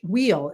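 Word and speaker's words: Weil: And all of a sudden, his opponent Josh Wheel, it looks like it should be while, but it's pronounced wheel.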